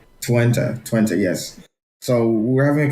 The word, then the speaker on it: Twente: It's Twente.